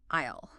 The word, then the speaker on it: isle: So they forcefully shoved an S into the spelling to make it look more Latin despite the fact that nobody pronounced it with an S.